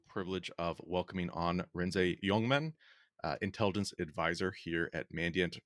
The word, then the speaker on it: Jongman: Joining me today, I have the privilege of welcoming on Renze Jongman, intelligence advisor here at Mandiant.